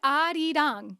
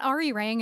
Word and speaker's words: 아리랑: It's not Arirang, it's Arirang.